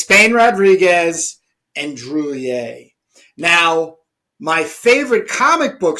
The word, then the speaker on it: Druillet: How is it pronounced? Druillet.